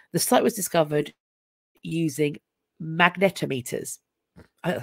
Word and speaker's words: magnetometers: at this time the site was discovered using magnetometers oh that's how you pronounce it a device used to measuring the